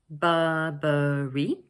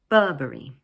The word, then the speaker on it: Burberry: This word is made up of three syllables 'Bur-ber-ry' with the stress placed on the first one 'Burberry'. Notice that in British English the middle 'r' sound is not usually pronounced. So instead we lengthen the vowel sound.